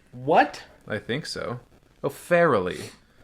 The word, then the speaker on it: Farrelly: Oh, Farrelly. You were saying like just fairly. Yeah, but it is Barely. pronounced fairly. Like barely.